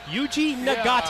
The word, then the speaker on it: Yuji Nagata: Yuji Nagata.